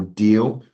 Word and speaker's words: Deel: So for example, Deal, which is spelled DEEL.